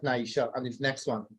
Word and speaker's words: Naisha: That's S-H-E. Yeah. That's Naisha.